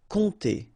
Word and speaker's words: compter: Alright, so OM, really like a nasal here. On, and then this P is not pronounced. Compter.